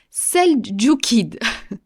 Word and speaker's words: seldjoukide: musulmans, qui étaient alors sous l'empire, attention la prononciation, seldjoukide.